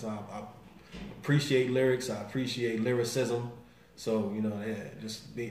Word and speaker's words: Lilrickcism: she said little Rick said his name is lyricism she says yes I mean if people know